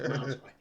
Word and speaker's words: Muay Thai: It's pronounced Muay Thai.